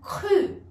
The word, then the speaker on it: cru: Essa palavra aqui, que é o passé composé do verbo acreditar, o cru, cru. Eu acreditei, j'ai cru, ou o cru pode ser também igualzinho no português o cru, por exemplo, legumes crus, legume cru, cru.